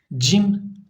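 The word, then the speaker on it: ج: Peltek hali fe fe cim cim harfi arkadaşlar cümle içerisinde kullanıldığında C ci cu şeklinde okunur Yani bunu kelime içinde okurken cim diye okumuyoruz Çünkü bu da Elif gibi Elif mesela harfin ismiydi cim harfin ismi He arkadaşlar He ince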